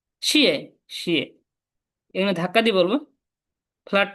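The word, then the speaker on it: 谢谢: শিয়ে শে নি, শিয়ে শে, শিয়ে শে মিন্স কি থ্যাংক, ধন্যবাদ।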